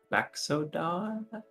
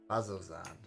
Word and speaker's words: Bazozan: We are going to Baxodan? Bazozan. Bazozan, there we go. Yeah, we got there. That's how you pronounce it.